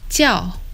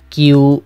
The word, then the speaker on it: 叫: This word meaning call is pronounced in Mandarin as 叫 with a falling tone. In Cantonese, it's 叫 with a mid-flat tone.